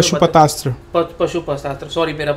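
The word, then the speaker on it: पाशुपतास्त्र: उसमें से एक यूज़ था पशुपत्रा का। हम तो वो उसके बारे में पशुपतस्त्र पशुपतस्त्र सॉरी मेरा प्रोनाउंसिएशन गलत हुआ।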